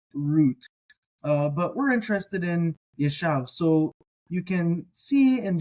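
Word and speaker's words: יָשַׁב: Now, on the docket today for our vocabulary term, we're thinking about the Hebrew word that is spelled Yod, Shin, Beit, Yeshav. Yeshav.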